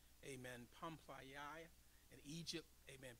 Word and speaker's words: Pamphylia: I didn't look up the phonics on these, but that's a Western pronunciation. Amen. Pamphylia in Egypt. Amen. P-A-M-P-H-Y-L-I-A.